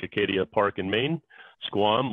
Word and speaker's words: Squam: So Acadia, like Acadia Park in Maine, Squam, like Squam Lake in New Hampshire, and .com.